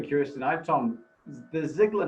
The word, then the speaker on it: Ziglar: bit of family research it's a german name and it's generally spelled uh differently than what we spell it uh it's usually we spell it z-i-g-l-a-r in almost always it's er and sometimes there's an i in it so it'll be like ziegler like z-i-e-g-l-e-r but when